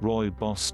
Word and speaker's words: rooibos: rooibos pronounced rooibos tea Afrikaans for Redbush tea